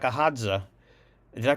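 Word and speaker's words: Hadza: options around food by thinking more like a hza did I pronounce that right by the way yeah you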